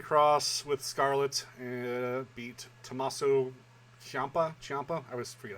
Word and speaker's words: Ciampa: Karrion Kross with Scarlett beat Tommaso Ciampa.